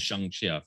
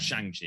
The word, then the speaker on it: Shang-Chi: It's pronounced Shang-Chi. I found out. I believe it is. Anyway, still, it's not Shang-Chi. I know that for sure.